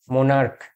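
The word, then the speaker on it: monarch: করবো ঠিক আছে যেমন মনার্ক এখানে এম ও এন এ আর সি এইচ এখানে লাস্টে যে সি এইচ আছে এর উচ্চারণ হলো ক যেমন মনার্ক এক্ষেত্রে মনার্ক এই ক টাই হলো গিয়ে সিএইচ এর উচ্চারণ তাহলে এই ক্ষেত্রে আমরা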